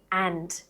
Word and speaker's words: and: Now, the most common example of this you'll hear every day is the word and. Australians, actually most native and advanced English speakers, drop the d from and constantly in connected speech.